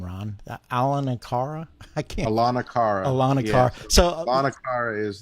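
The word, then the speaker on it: Aulonocara: How do you pronounce that name, Ron? Alanakara? I can't. Alanakara.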